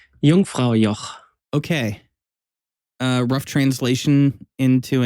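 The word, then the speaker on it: Jungfrau: How do you pronounce that again? Yungfra.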